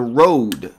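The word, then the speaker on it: Rode: mic and uh the road mic which I think is actually pronounced Ro but everyone pronounces it Road r o d e but it is not an English name uh and it's their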